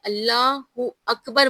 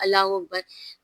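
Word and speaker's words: الله أكبر: तो देखिए अल्लाहहु अकबर बोलना चाहिए। लोग क्या बोलते हैं? अल्लाहू अकबर।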